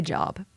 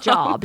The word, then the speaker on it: Job: You're going to, like, it's spelled like job, J-O-B, Job. And I was like, if you would have just spelled his name, put an A in there, like J-O-A-B, Job, we would never mispronounce it.